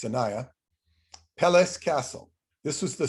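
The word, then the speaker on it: Sinaia: beautiful mountain town called sanaya which is like sinai same name only it's pronounced sanaya peles castle this was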